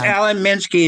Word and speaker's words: Alan Minsky: Yes, Alan Minsky is our executive director.